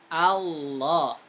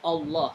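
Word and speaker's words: الله: Ingat ya, bacaan Allah itu bukan Allah, tapi A, Allah. Begitu bacaannya. Bukan Allah, bukan O, tidak, tapi A, Allah, Allah.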